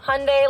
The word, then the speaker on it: Hyundai: segue into more about Hyundai, the brand. Hyundai. Um Hyundai. Hyundai. Oh, I got it for you. It's Hyundai like Sunday. My rep always says it. Hyundai like Sunday.